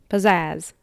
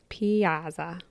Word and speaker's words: Piazza: Pizzazz. No. Pizza. Piazza. Piazza. Piazza. You have to say it like that.